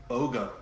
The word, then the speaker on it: Boga: i don't know its name that would be boga it has a name you did a pretty good job pronouncing that that is correct for two points